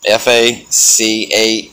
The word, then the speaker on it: Facade: So it's a guy named, his name's Facade now, F-A-C-A-D-E, Facade. And for the longest time, I couldn't pronounce it for some reason.